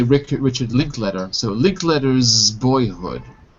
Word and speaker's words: Linklater: By the way, most people say Linklater, even though it's written later. It's not really pronounced later. So most people say Richard Linklater.